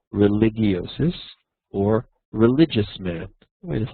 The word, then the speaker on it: religiosus: In Latin, there's no hard G. I learned from years of high school Latin. So it's homo religiosus, or religious man.